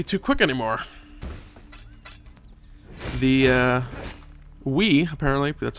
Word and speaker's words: Viy: going to be too quick anymore the uh we apparently that's how you pronounced the boss's name VI viy as I was pronouncing VI is apparently pronounced we some of these not uh English mythological figures